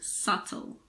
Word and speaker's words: subtle: we pronounce the b there are also a few words in which the B is silent before the letter T these words are debt doubt and subtle this also applies to